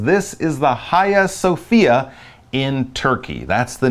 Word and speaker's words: Hagia Sophia: I believe the Turkish is a little bit more Hagia Sophia, but either way, don't say the H-A-G. It's not pronounced that way. It comes more from the Greek or Turkish pronunciation. So Hagia Sophia in Turkey.